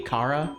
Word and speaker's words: Chara: Am I saying that right? Yeah, Chara. Chara. Because it's short for... Technically, it would be Kara, Kara. but it's short because it's short for character, but Chara is kind of like an accepted pronunciation.